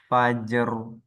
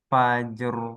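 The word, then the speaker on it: فجر: Amr mail Fajr Nah jadi di ayat ini ro yang di akhir ya Bu ya Nah itu dibacanya tebal tebal Heeh jadi mulutnya itu menyerupai huruf o Ah gimana rahang kita pas ngucap O di akhir ayatnya nanti misalkan Fajr ahah Fajr ah ro yang diakhir itu Bu ee mulutnya membentuk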